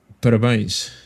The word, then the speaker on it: Parabéns: Parabéns.